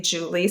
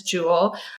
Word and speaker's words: Jule: I am in real life phonetically Julie spelled J U L E. No one ever pronounced it correctly. They pronounced it mispronounced it as Jewel.